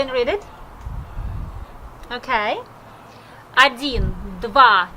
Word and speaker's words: два: Один, два, три, четыре, пять.